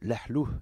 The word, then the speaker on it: Lahlou: Voilà, merci Monsieur Lalou de l'ahlou, dit-on en arabe, correctement.